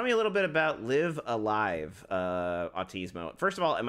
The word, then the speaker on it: Live A Live: I believe the game is pronounced Live a Live. So I've seen people also just call it Live Alive, so I guess it doesn't matter. So in hindsight, you can pronounce it any way you want.